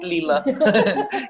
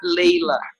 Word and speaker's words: Leila: written with a Y so everybody says Leila but with the I for people that speak English it's they always Lila it's okay it's okay Oz today my name is pronounced Leila my work these days